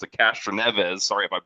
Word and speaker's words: Castroneves: The NASCAR had to make a rule just so Helio Cat I can't pronounce it Castroneves. Sorry if I You butchered said it. it right. You said it right. Okay, Castaneves.